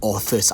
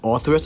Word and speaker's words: Orthrus: part of the video I kept saying all first I think so anyway it is the author's I keep missing out on pronouncing the second letter are in the name but I think that